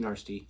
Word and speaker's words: Narstie: clip again from the Big Nasty or Big Nasty Show as they pronounce it even though it's spelled Nary.